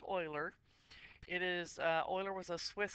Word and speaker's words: Euler: And before you say Euler, it's pronounced Euler.